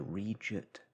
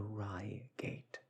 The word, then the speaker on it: Reigate: the real pronunciation so I had known it in my youth as the region Squires that however is incorrect it is actually the Ry gate Squires a town in Su